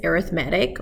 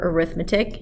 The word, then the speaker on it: arithmetic: of numbers that is arithmetic or arithmetic you can pronounce it one of two ways 2 4 6 8